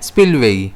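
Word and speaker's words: spillway: अब हम इसे प्रोनाउंस कैसे करते हैं? स्पिलवेई। इसमें स्ट्रेस कहां रहेगा? एस पर रहेगा। इसके सिनोनिम्स देखें तो ओवरफ्लो, स्लूस, डिस्चार्ज।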